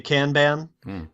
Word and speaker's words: Kanban: I'm going to mispronounce I'm going to call it Kanban WP because I have a British northern British accent but you're going to pronounce it correctly no doubt okay what is the name of your product Corey well if you're in America you're likely to say Kanban which is not wrong the rest of the